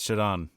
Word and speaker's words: Shodan: showon w shodon Shodan you can tell us how it's pronounced actually right now it's shodon shodon um so shadon is